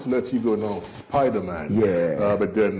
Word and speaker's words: Spydaman: I am Spider-Man I I'm Spiderman i m s SP y d a m n on YouTube it is Spider-Man Spartan Spartan as the Relentless 300s you know so we're always spell it out s p y d a m a n spart s p a